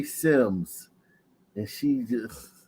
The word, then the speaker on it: Sims: going crazy that Clearly say Sims and she just said Simmons it clearly seems s-i-m-s mispronounced people names and if you have somebody